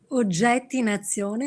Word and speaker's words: Oggetti in azione: Son ouvrage, je ne sais pas comment on prononce, mais j'essaie de prononcer en italien. Oggetti in azione, c'est correct, madame? Oggetti in azione, oui, c'est presque parfait.